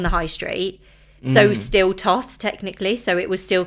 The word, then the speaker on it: TOTHS: So do you prefer Therapists Off the High Street or TOTHS?